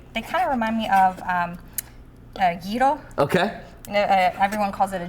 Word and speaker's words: gyro: They kind of remind me of gyro.